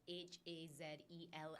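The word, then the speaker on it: Hazell: Is that the same thing with one of your, I read that your grandmother or great-grandmother was H-A-Z-E-L-L. Correct. Is that correct? Hazel. But with 2 L's.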